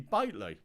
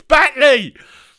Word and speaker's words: Batley: So it must be Bately. He went, no, it's Batley.